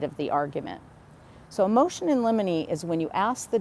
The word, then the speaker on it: in limine: And so, these two attorneys filed what we call a motion in limine. And that's spelled I N L I M I N L I M I motion in limine.